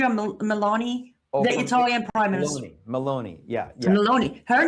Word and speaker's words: Meloni: Melanie? No, Melanie, the Prime Minister. Melania. Georgia Meloni, the Italian Prime Minister. Meloni, yeah.